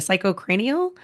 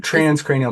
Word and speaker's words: transcranial: um uh the psych I'm gonna say it wrong the psycho cranial is that right or trans cranial magnetic day frequency healing you're